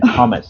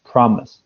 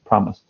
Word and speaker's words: promise: were kind of saying Thomas Thomas you weren't pronouncing the R so and the correct pronunciation is promise promise promise okay yeah yeah